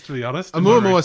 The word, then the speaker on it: Oumuamua: Oumuamua. I saw a lot of pronunciations, to be honest. Oumuamua sounds right because it's a Hawaiian word.